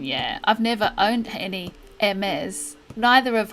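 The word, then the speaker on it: Hermès: I've never owned any Hermes. Neither have I. I think it's because it's French, the H is silent.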